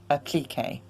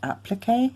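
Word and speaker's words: appliqué: Also, there is a difference in pronunciation. We say applique in the UK, and I believe in the United States and Canada probably say applique.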